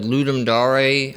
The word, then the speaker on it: Ludum Dare: And the one we've normally done is the Ludum Dare, I think is the proper pronunciation.